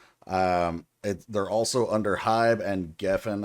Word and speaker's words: Geffen: They're also under HYBE, and Geffen, I think is how you pronounce that.